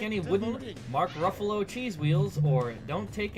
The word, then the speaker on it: Ruffalo: Buffalo Nickels, Mark Ruffalo, rhymes with Buffalo.